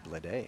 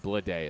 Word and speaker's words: Bleday: And Bleday is B-L-E-D-A-Y. So they're all spelled differently. Homophones, though.